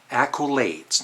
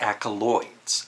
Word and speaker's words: accolades: because he also talked about the video it's accolades not ACO loids sorry to nitpick and then he says I